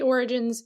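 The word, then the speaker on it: Orogenes: Yeah, it looks like jeans, but she pronounces it like origins.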